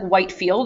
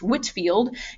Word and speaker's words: Whitefield: movement are george whitefield i know it looks like whitefield that's the way it's spelled but it is pronounced whitfield and jonathan edwards and